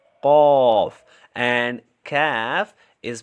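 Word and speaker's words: ك: very important uh they are uh cough and calf cough and calf so cough is a heavy letter and it is pronounced with a full mouth while calf is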